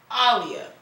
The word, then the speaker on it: Aaliyah: And actually, on the back of my flannel, if I move my hair around, it's Aaliyah. It's actually pronounced Aaliyah.